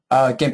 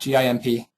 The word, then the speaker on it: GIMP: GIMP, it's just that, GIMP. It's an acronym, but that's how they say it on their website, I believe.